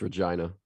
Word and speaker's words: Regina: Regina. It's Regina. I already said it. It's actually how it's pronounced.